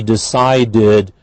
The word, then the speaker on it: decided: Then we have she decided to unpack the boxes. Decided, again, d, so we have id at the end.